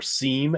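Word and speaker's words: SIEM: But I still am fascinated by the fact that SIM, or SEAM, as some people pronounce it still, like defiantly, by the way, too.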